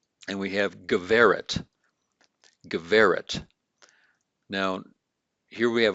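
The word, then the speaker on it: גברת: So it's going to have that V as in Victor pronunciation. So it's Geveret. Notice the accent here. So I've got an accent here over that second to last syllable. And so that makes it Geveret and not Giveret.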